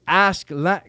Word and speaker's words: Askeladd: But when they pronounce it in Japanese, if you really listen, because they're not pronouncing the K, they're saying Ash. They're saying Askeladd.